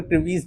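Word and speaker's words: crevice: होता है आपके पास क्रिवाइस, क्रिवाइस या फिर क्रिवीस, जो आपको बोलना है प्रोनाउंसिएशन, ठीक है, वैसे तो क्रिवाइस ही होता है।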